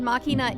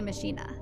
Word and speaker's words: Machina: one of them see aurora just said makina is the correct pronunciation except that in game i've heard them say machina so yeah when you